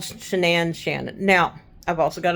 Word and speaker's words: Shanann: I believe that maybe she changed it to Shanann, changed the spelling of it to Shanann, and therefore how it's pronounced instead of Shannon. But regardless, whether her name is Shannon or Shanann, Shanann is how she introduces herself.